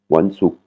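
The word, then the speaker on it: วันศุกร์: Vendredi, Wansuk. Pareil, intonation qui tombe sur la dernière syllabe et une voyelle courte, qui est le OU, Wansuk. Vendredi, Wansao.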